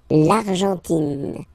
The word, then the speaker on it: L'Argentine: Don't pronounce the final E. It just gives you the pronunciation of the N. In, in. L'Argentine.